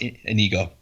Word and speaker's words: Inigo: He's actually Inigo, like Inigo into the danger, Inigo under the bridge. Inigo is actually where his name came from. But yeah, it's pronounced Inigo.